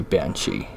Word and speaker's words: banshee: the correct pronunciation was, it came out to be Banshee. Two separate words, ban and then she.